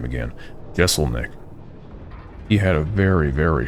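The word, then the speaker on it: Jeselnik: reminds me of that one skit that Anthony Jessel Nick dig on his yeah let me pronounce that last name again gessel Nick he had a very very short live show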